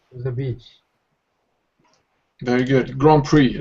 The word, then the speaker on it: Grand Prix: the beach very good Grand Prix this is a French word yeah so wouldn't you